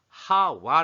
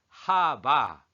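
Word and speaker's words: חַוָּה: 하하 라고 하는데 정확합니다 사실 거실 히브리어는 데이 발음으로는 하와 라고 할 수 있지만 하바 하바 라고 하는 것이 더 정확합니다 그렇게 메시아 리 규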